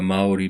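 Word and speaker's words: Māori: indigenous people um are the mai people and that's how it said with a long a and then you got to roll the r you know like the Spanish and they have a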